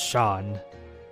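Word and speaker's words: Seam: hope the lighters will return a name seemed pronounced Shaun and this is my little shop hahahaha over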